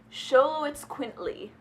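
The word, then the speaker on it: Xoloitzcuintli: because it's this but I looked it up it's show it squint Lee dare you guys to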